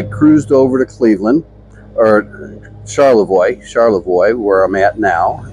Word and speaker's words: Charlevoix: just go slow uh Char charlam charoy charoy I think is how it's pronounced is a very nice